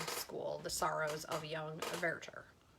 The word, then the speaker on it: Werther: This week began with Werther. That is how you say it in the opera world. It, I guess, comes from the French, Werther. But I always say Werther because I learned it in college.